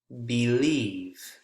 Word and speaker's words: believe: Believe. Believe is a noun or a verb? Believe is a verb, and that's why that second syllable, eve, believe, is the strongest.